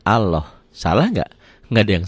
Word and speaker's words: Allah: Nih, lafaz Allah dibaca tafkhim, tebal, berbunyi Allah. Jadi kalau mengungkapkan ini seperti ada W-nya ya. Ini juga bukan seperti ini. Ini kan dibacanya Allah.